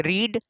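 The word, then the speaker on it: read: इसे रीड बोलते हैं, इसे रेड, इसे भी रेड, ठीक, रेड ये वाला, तो इसे ध्यान दीजिएगा।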